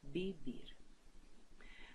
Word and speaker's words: vivir: Although you can see vivir with double V here, don't worry because V and B in English are pronounced just like B in Spanish. So, vivir.